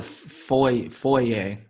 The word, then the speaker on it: FOIA: they'll call it FOIA is what they usually pronounce it.